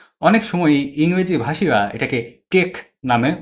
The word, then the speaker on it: TeX: নামটি আদতে গ্রিক অক্ষর তাও এফসিলন এবং খি অক্ষরের বড় হাতের রূপ। টেকনোলজি শব্দের শুরুতে আমরা এই তিন অক্ষর দেখতে পাই। টেক শব্দটি গ্রিক ভাষায় আর্ট অর্থ নির্দেশ করে। ডোনাল্ড কনুথের নির্দেশিত উচ্চারণ মাফিক আমি এই ভিডিওতে আদি গ্রিক উচ্চারণ ব্যবহার করছি।